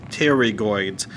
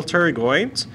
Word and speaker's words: pterygoid: this is the lateral pterygoid muscle please keep in mind - regardless starts with a P while the P is silent alright alright so if